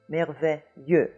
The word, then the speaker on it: merveilleux: And what that is you have the semi-vowel y. We have this in English in yes.